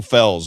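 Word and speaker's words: Felz: So this guy's name is Joe Fells. It's spelled F-E-L-Z, Joe Fells.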